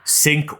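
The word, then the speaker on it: cinq: one is called Joker sink or swim um the word sink of course is spelled c i n q for the French word for five oh sunk or SW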